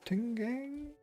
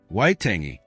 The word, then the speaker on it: Waitangi: The Treaty of Altingang? Oh. We're gonna figure out what this is. Or how to say it. Waitangi.